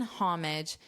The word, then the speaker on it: homage: pay homage or in homage to the volunteers. In American English, I have heard people leave out the H, so to turn the H into a silent H and pronounce it as homage.